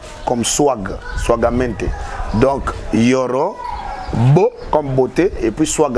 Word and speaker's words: Yoro Beau: Moi, Yoro, ça s'écrit R-O et Y-O-R-O espace B-E-A-U, comme beau. Beauté. Ah, Yorobo. Voilà. Donc, et puis, swag, c'est S-W-A-G-G. Donc, double G. Comme swag. Swagamente. Donc, Yoro, beau, comme beauté, et puis swag à la fin.